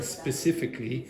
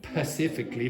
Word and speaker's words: specifically: worry like for example Rebecca has a problem pronouncing specifically she pronounces it pacifically like the Pacific Ocean you have three